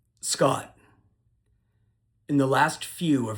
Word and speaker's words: Scott: The T sound at the end of my name is called a stop T.